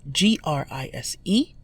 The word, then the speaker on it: grise: The feminine form is G-R-I-S-E, pronounced grise. Masculine gris, feminine grise.